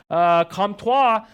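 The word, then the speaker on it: Comtois: jump second line Maxime comptoir I'd be careful when you pronounce his last name Kampf wha and Adam Henrique and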